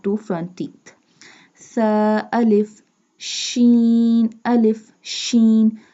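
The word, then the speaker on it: شين: Tha, alif, sheen, alif, sheen. Sheen sound like a whistle sound.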